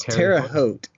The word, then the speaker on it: Terre Haute: to be here thank you how do I pronounce that Symphony Orchestra its Terre Haute Terre Haute okay it's like a in western